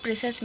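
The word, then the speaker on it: précis: by3 of the original in the word preis the silent letter is s this is compulsory in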